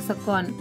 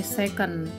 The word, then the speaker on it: sekon: Ketiga, waktu, satuannya sekon, kita bilangnya sekon. Kalau yang lain ada yang bacanya second, menurut pembacaannya dalam bahasa Inggris ya.